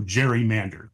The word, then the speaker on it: gerrymander: a salamander and so they put together Gary and Mander and then we made a soft G so Jerry Mander there you go very